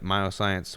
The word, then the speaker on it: Myoxcience: But he's got all kinds of stuff on his website, Myoscience, which is spelled MYOXCIENCE.